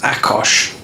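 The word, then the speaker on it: Ákos: himself Chaos Theory or it's pronounced Akos he's Hungarian and this guy Ad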